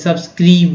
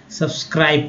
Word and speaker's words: subscribe: यहाँ पर आई को जो है आई उच्चारण कर रहे हैं, ई के रूप में उच्चारण नहीं, जैसे सब्सक्रीब नहीं, सब्सक्रीबे नहीं पढ़ रहे हैं, सब्सक्राइब पढ़ रहे हैं।